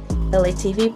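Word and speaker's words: ELAY TV: LA TV, pronounced like LA, like the city.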